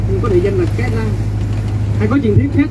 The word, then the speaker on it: Cái Răng: Cà ràng nhưng mà do người dân miền Tây phát âm thành từ cái răng. Hay là nghe. Nhưng có địa danh là cái răng.